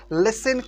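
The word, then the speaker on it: listen: carefully यहां पर देखिए लिसन में टी है ना टी यहां पर साइलेंट है यानी इनका आवाज नहीं होगा लिसन केयरफुली केयरफुली का मतलब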